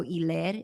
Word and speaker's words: Hilaire: Evidently, it's like French pronunciation. So Hilaire, if I'm saying that right.